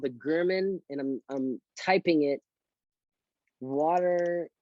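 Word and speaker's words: Germann: It's spelled like German, but it's pronounced German water vapor test.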